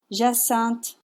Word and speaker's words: Jacinthe: And in French it's pronounced jasant. Jasant jaant. One silent letter, one nasal vowel.